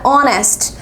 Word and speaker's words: honest: Último caso, a palavra honest. Começa com a letra H, mas esse H é mudo. Então, apesar de começar com consoante, não soa como consoante.